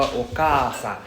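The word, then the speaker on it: okaasan: So the long sound in hiragana, we actually represent it like this, right? For example, okasan. Okasan, we actually have this long sound. So it's a double a sound.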